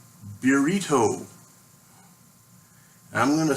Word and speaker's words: Beerito: bugger right here called Beerito. And I'm going to say that like a gringo because that's probably written by a gringo. It's not Beerito, it's Beerito. Mexican lager, brewed and canned by Oskar Blues.